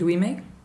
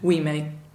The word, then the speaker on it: Ouimet: And it's called I Go Quiet, and it's by a guy called David Ouimet. David Ouimet. How do you spell that? Think French. O-U-I French.